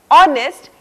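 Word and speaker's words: honest: लेकिन कई शब्दों में यह मोख यानी कि साइलेंट रहता है जैसे आवर ऑनेस्ट इ इस तरह के शब्द अब बारी आती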